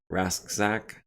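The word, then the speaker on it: Rasczak: reader is the program you used uh it's pronounced rasak okay i'll try to remember that referencing the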